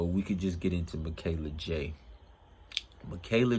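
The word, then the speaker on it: Mikela J: want to talk about michaela j that's how you say it um and if you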